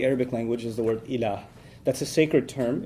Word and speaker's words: ilah: which there's the term ilah. If you want to write that in English, it would be I-L-A-A-H, ilah. It's pretty easy to pronounce in English, okay?